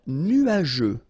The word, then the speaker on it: nuageux: Un ciel nuageux. This can be quite tricky, but take the time to nuageux. Remember, final X here, not pronounced.